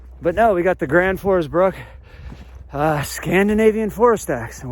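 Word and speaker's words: Gränsfors Bruk: axe there you go did i say that right for you guys guys will get mad if you don't say it right kranford's brook i get in trouble for saying brooks oh the purist it's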